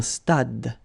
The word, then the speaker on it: stade: Same thing here. Final is not pronounced. Un stade.